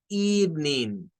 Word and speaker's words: evening: Recuérdense que es evening, evening, evening, dos sílabas nada más. Nuestro cerebro está acostumbrado a leer las sílabas del español. Entonces hay que acostumbrarlo a leer las sílabas del inglés. Porque cuando leemos las sílabas del español, el español nos ha enseñado que eve. Entonces comenzamos a decir evening. No, es evening.